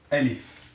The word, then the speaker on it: ألف: Or Alif, okay? Alif. In phonetic English, it can be something like this.